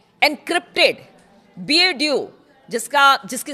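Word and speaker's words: BeiDou: ईरानी सेना के नेविगेशन को अमेरिकी जीपीएस से हटाकर चीन के एनक्रिप्टेड बीएड्यू जिसका जिसकी स्पेलिंग है बी ई आई डी ओ यू तीन पर ट्रांसफर किया है।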